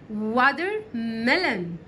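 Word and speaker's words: watermelon: ودر ملن ودر ملن خلي بالك التي هنا جت بين حرفين متحركين وانت شاطر ومتابع قناه انجليزي كل المراحل وعرفتك ان التي لما بتيجي بين حرفين متحركين بننطقها كانها دال كده شويه بص هنا حرف الاي متحرك وحرف الاي متحرك علشان كده قلت ايه ودر ملن ودر ملن هنا البطاطس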